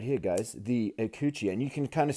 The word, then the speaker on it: Ikuchi: So something I think that's really cool about this knife is it's named the IKUCHI, pronounced IKUCHI, and it's named after a Japanese sea monster, which is pretty cool.